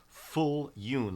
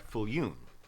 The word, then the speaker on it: Viljoen: It's spelled Viljoen, but it's pronounced Fuljoen, like full moon, but Fulyoun, Reverend Dr. Edward Fulyoun, and he's a very good friend of mine.